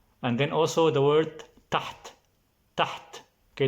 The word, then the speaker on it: تحت: Okay, this is a little bit difficult because it has the letter ha. The second letter is ha. Then it's a little bit difficult to pronounce if you're not Arabic. Taht, taht means under, under.